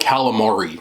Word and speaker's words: calamari: Most people I grew up with call it galamad. It's just, I don't know. But it's called calamari.